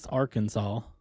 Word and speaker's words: Arkansas: You got to say it right. Arkansas.